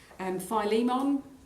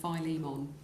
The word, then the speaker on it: Philemon: Philemon, or Philemon, different ways of pronouncing that. I'm a Philemon person myself.